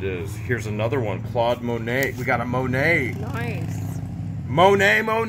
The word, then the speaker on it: Monet: No, Monet. Listen to the pronunciation.